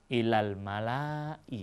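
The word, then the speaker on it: الملإ: 243 pada sekelompok pemuka perlu diperhatikan kalimat Mala ya di dalam al-qur'an walaupun ada alifnya kemudian setelah itu ada Hamzah di belakangnya itu dibacanya pendek Karena memang ee Alif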